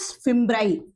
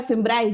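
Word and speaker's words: fimbriae: तो जो सॉलिड वाली है, ये वाली जो है, दिस इज फिम्ब्राई, ये है फिम्ब्री या फिम्ब्राई, जो भी आप प्रोनाउंस करो।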